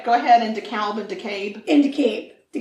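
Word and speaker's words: DeKalb: decator decab deur and it's weird cuz it's decab but it's d e k a lb yeah or deal but that's not how they say it cab Ator de murder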